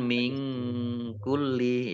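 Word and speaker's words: مِن كُلِّ: Min kulli, sukun bertemu dengan huruf kaf, bacaan ikhfa, dibaca samar-samar. Min kulli, tapi tidak, bacanya jangan min kulli, ya, jangan eng, ya. Ya, antara n dan eng. Min kulli, lamnya dibaca double, ada tasdidnya. Dabbah, dal fathah alif mat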